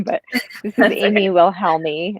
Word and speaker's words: Wilhelmi: but this is Amy will help me is that how you say it will help me that's right okay so she's my